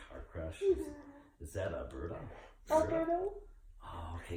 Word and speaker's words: Berta: Is that a Berta? Alberto? Oh, okay, because I'm hearing Berta in it, and I asked him to spell it, and he spelled it the way I'm saying it, B-E-R-T-A.